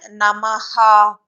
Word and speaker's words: Namaha: while ending the sloka, the word Namaha has pronounced sharply. Prolong the syllable ha, which creates the sound of a, and sharply notice the changes happens in human brain.